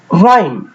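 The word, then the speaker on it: rhyme: আছে এখন কি হয়েছে আমরা আর এর উচ্চারণ পাচ্ছি কিন্তু এইচ এর উচ্চারণটি পাচ্ছি না ঠিক সেই ভাবেই পাচ্ছি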